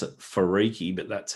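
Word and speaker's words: Wharariki: on a piece of paper you would never pronounce it farii but that's how the the ma is pronounced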